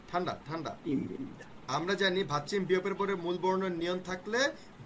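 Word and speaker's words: 입니다: ইমিন্দা। আমরা জানি ভাচ্চিম বিয়োগের পরে মূল বর্ণের নিয়ম থাকলে বিয়োগের উচ্চারণ ময়ের ম মতো হয়ে হয়, যাবে।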